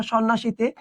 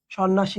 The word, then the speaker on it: সন্ন্যাসী: ন প্লাস ন সন্ন্যাসীতে, তার সাথে যুক্ত হয়েছে জ ফলা, অর্থাৎ অলরেডি যেগুলো যুক্ত তার সঙ্গেই যুক্ত হয়েছে না?